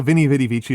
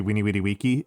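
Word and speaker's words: veni, vidi, vici: Uh the the way like the vinnie vidy vichi is supposed to be weeny witty wiki. If we pronouncing it more closely to how Caesar would have pronounced it is going to be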